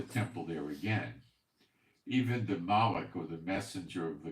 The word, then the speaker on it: Malachi: send my Malik messenger Malachi is mispronounced it's Malik it means messenger messenger and he shall prepare